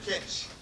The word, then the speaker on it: Kitsch: Kitsch, though. It's like hitch. Yeah, Kitsch. Kitsch. Yeah, if you got It's phonetic. Okay, It would Yeah. work. Taylor Kitsch.